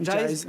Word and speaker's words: Jyse: Alors, je ne sais pas si je le prononce Jyze, bien. c'est ça. Jyze.